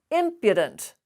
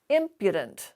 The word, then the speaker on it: impudent: this word is pronounced impudent the stress is on the first syllable and that's why you hear that schwa in between the d and the n impudent now if you were